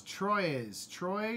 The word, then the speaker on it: Troyes: How do we pronounce Troyes? It's Troy. I believe it's Troy.